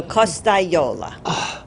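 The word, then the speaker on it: Costagliola: The G-L-I is like a Y. Oh, It's that's- pronounced like a Y in Italian. So Costayola.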